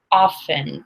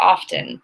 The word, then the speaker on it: often: okay the question is we were taught in school that t is silent in often or often but when I heard